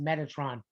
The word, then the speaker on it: Metatron: in english his name was prayer would be pronounced metatron we don't pronounce it in hebrew uh because